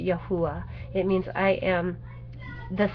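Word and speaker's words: Yahuah: y h w h i spell it y a h u a h and pronounce it yahuwah it means i am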